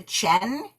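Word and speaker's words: Qian: of this book is named her name she pronounces the Chen Chen Julie and it's funny because it looks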